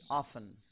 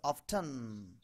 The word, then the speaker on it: often: এটা বলে British অফেন। Often. এবার আমেরিকা Often. অফেন বলে, বাট সাউন্ড দেখেন দুটো আছে, অফটেন, এই যে এখানে অফটেন, টন টন, জি স্যার হ্যাঁ, ওই ওটার মতো আর কি।